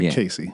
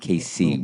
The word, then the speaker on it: KC: KC, not Casey. Casey. Pause between the syllables.